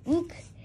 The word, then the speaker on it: Ook: Him's name is not Ook. It's Ook. Rhyme with Duke.